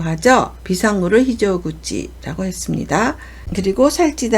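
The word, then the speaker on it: 非常口: 비상이라고 읽을 때는 히조라고 하죠. 비상 또는 대단함을 나타내는데 비상구를 나타낼 때는 히조구치라고 합니다.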